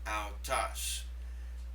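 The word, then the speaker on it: αὐτός: This makes the ow sound as in the proper name Faust, owl. And in parenthesis you'll see the word autas. Autas.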